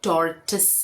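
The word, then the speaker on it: tortoise: ही सिखाया है टॉर्टरटॉइस टर्टॉइस मतलब कछुआ लेकिन ये टॉरटॉइस नहीं है। ये टॉर्टिस है।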